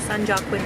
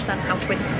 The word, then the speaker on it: San Joaquin: So he's gonna sit back, watch King Kong, and then and it's not San Joaquin, it's San Joaquin.